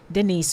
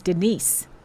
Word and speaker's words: Denise: name did you know a lot of people pronounce denise with a z but he doesn't have a z my name is denise with an s okay just saying here